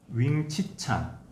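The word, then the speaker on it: Wing-tsit Chan: 이게 광동어로 윙치찬이라고 이제 발음이 되어져서 진영첩이라고도 뭐 한문 그대로 이제 음역하면 그렇게 읽을 수도 있고 중국어로도 그렇게 읽을 수가 있습니다.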